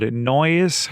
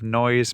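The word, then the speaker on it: Noyes: And right across from here is a place called Noise. I think it's pronounced N O Y S Minnesota. There's some houses there of Noise, Minnesota.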